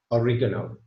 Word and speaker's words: oregano: Now, although we say oregano in the United Kingdom, I'm not going to argue that that is the correct pronunciation, because although the Italians pronounce it more like oregano, yeah, this is how they pronounce it. So the American pronunciation of it is probably closer than the English one.